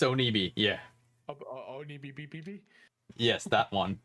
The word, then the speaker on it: Onibi: Yeah, it's Onibi.